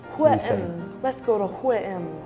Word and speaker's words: H&M: In Sweden, we just pronounce the letters. So H in Swedish is H, and M in Swedish is M. M. So H-M. H-M.